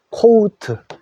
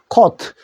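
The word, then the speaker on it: coat: 자, 코트라고 우리 위에 입는 옷을 하는데, 영어로는 요 소리를 오우로 내 주십시오. 요 오우 소리. 우리는 그냥 코트라 하는데, 코우트. 아시겠죠? 코우트.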